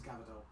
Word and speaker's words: Gvardiol: It is Gvardiol.